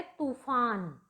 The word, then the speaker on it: तूफान: तो इसमें जो अशुद्ध है वो है ता पर छोटे ऊ की मात्रा, लेकिन ता पर हमें जोर देना है और वो है तूफान।